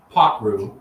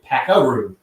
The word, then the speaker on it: Pakroo: call Packer yeah so it's actually pronounced pot root you know my dad's